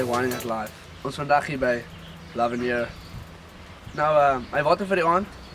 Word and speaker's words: L'Avenir: L'Avenir It means "The Future" Allright, we have a